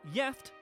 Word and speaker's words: gift: One Swedish word that is spelled the same as the English is gift but is pronounced yift and has two separate meanings.